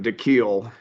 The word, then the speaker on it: DeKeel: You pronounce it DeKeel. I don't know how to spell it, but you announce it DeKeel. He gets mad at me all the time. That's why I just call him D. But it is DeKeel.